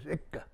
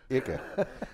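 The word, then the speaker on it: Eigg: The remote Isle of Egg, which is spelled E-I-G-G and pronounced a bunch of different ways. Bunch of different words. The word I got off the net was Ica. Ica. Yeah, I've seen that too, but I've seen egg more often.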